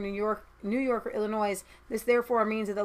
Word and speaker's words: Illinois: keep developing those overseas it is pronounced Illinois what is this Thailand a lot of people say all the noise but that's cuz it's how it is forty-five year old man